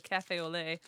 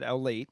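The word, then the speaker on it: café au lait: Some kid came in the other day and he ordered a cafe au lait, but he said owlate, and I should have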